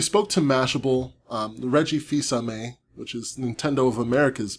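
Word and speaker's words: Fils-Aimé: of America's boss um I had no idea how to pronounce his name before E3 this year I thought it was like Flame or something but apparently it's Visa May so that's cool he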